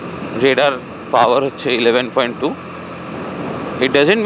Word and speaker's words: Raider: কেউ রাইডার বলে, কেউ রেডা বলে. It's neither রাইডার নট রেডা, ইটস রেডার. ইটস RAIDER, রেডার. যেরকমভাবে আমরা রেডার, সোনার রেডার বা এসব প্রোনাউন্স করি, তো ইটস লাইক দ্যাট.